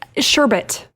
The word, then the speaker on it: sherbet: t s h r b oh man it's sherbet sherbet not right yeah it's not sherbet no